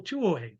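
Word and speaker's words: Tuohy: In Portland, you had a ticket agent named Michael Tuo. His last name is spelled T U T U H E Y.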